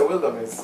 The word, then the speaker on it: WilderMEZ: Isn't it Wilder though? It's WilderMEZ. No, because it's supposed to rhyme with wilderness, so you just say WilderMEZ. Okay, WilderMEZ. Yeah, because, you know, wilderness.